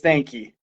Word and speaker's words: Stanky: and I'm gonna say the way to pronounce my last name I'm so used to it is Stanky okay yeah but my